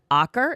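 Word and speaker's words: Aaker: Jennifer Aer is how you pronounce her last name.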